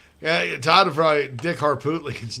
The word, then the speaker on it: Harpootlian: Yeah, Todd would probably Dick Harpootlian's name. Oh my God. Dick Harpootlerin. Dick Harpootlerin. To the 28 years old. Dick Hartoonian. Cartoony. Yeah. Todd, I believe it's pronounced Harpootlian.